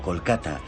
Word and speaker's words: Kolkata: fue rebautizada oficialmente como kolkata reflejando la pronunciación bengalí y no la inglesa este es uno de